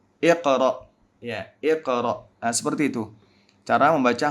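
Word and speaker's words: اقرأ: Ini bukan dammah, ini fathah, bukan dammah. Jadi, pengucapannya adalah 'iqra'.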